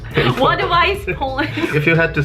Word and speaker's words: Wadowice: You pronounce it Wadowice. It's pronounced Wadowice. Wadowice, Poland.